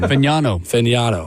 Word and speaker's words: Fagnano: Fagnano. Thank you. Oh, From the University of Connecticut. Thank you to Bert for helping the with that. one that was with the Jets. Fagnano?